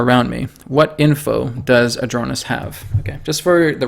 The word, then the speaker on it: Adronis: Is it Adronis, or is it Adonis, or is it Adronis? I say, well, how do I spell it in the videos, guys? A-D-R-O-N-I-S. That's how you pronounce it.